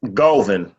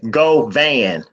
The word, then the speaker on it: Govan: it thank you Michael my name is Golvin most people say Govan but more importantly I